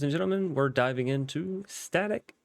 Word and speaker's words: StaTech: gentlemen we're diving into static industry and I've checked that is indeed how you pronounce it so yeah um